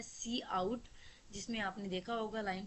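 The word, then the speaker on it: cout: सी आउट pronounce as सी आउट, ठीक है, सी आउट की प्रोनाउंसिएशन से निकला ये word, is an object use together with the इंजर्शन operation.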